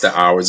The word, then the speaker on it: OWRS: It's pronounced the Hours.